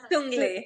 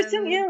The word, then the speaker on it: Sung-il: and Sung-li, Sung-il. Sung-li. Sung-li, yeah. Sung-li, yeah. No, Sung-il. It's Sung-il. It's Sung-il. It's Sung-li. It's not Lee.